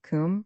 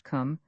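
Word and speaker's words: Cwm: Kum pronounced like the Welsh Kum denotes something of hollowess.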